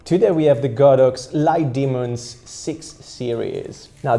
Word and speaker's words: Litemons: demons six series now this is how the lights are called light demons I think that's how you pronounce it light demons cuz the logo actually has a couple of horns on top of the O so it reminds me